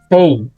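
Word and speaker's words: פ: Okay, pero ang pronunciation ay Pay.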